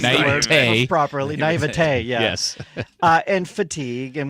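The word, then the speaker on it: naïveté: The naivete, now that I know how to pronounce the word properly, naivete, yeah.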